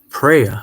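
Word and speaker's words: Phraya: Almost like prayer.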